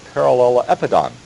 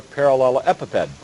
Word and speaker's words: parallelepiped: And just to comment that the rectangular parallelepiped, I've pronounced that way throughout my background, is actually given a different pronunciation because it came out of work in biology looking at crystal structures, and it's sometimes referred to as a parallelepiped. So a rectangular parallelepiped or a rectangular parallelepiped instead of piped, because epi